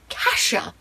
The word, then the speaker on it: Cassia: trouble with this one i went back and forth between two pronunciations the entire time i read the first and second book and it was either cassia or cassia well guess what i just started reading the third book in this series reached and i'm reading it on audiobook and guess how they pronounce the name kasia i don't think i